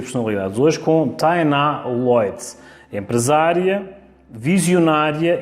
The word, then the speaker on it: Leutz: Tainá Lloyd, eu acho que me conhecem mais por Tainá Lloyd nas redes sociais, essa pronúncia, né, como um português sábio, é o Lloyd.